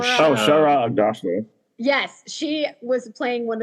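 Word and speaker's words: Shohreh Aghdashloo: playing the boys, like, and Shorha Aga. Oh, I always say her name wrong. You know who I'm talking about, Joey? No. From Agatha what? House of Sand and Fog. Oh, Shara Agdashlu.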